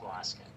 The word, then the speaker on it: Dwoskin: like the weirdest name I ever had to pronounce. Dalrymple. When I was growing up, so my name's Dwoskin, right? It's just Dwoskin.